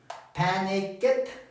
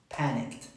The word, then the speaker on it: panicked: Panic it. Panic it. Panicked.